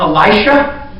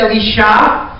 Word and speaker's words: Elisha: And I believe in English it's normally pronounced Elisha, the guy that came after Elijah. But in Hebrew it's Elisha.